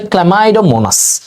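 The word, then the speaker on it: Chlamydomonas: আর যারা সচল চল সচল চল চলমাই এটার উচ্চারণ হচ্ছে ক্লামাইডোমোনাস ঠিক আছে এভাবে মনে রেখে দিবা এগুলো আমাদের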